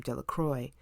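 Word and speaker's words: Delacroix: Harry Jones and Dickie de laqua the villagers pronounced his name De La Croix eventually made a great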